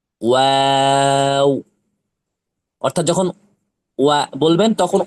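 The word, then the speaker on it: واو: করে দিলে হবে না দুই ঠোট গোল করে সামান্য খোলা রেখে সামান্য খোলা রেখে চার আলিফ টান দিয়ে কয় আলিফ টান দিয়ে চার আলিফ টান দিয়ে উচ্চারণ করতে হবে ওয়াও অর্থাৎ যখন ওয়া বলবেন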